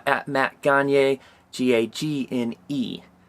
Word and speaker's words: Gagne: Go to @flockgoods on Instagram, and if you want to see his personal deal, it's at Matt Gagne, Gagne. Not pronounced Gagne.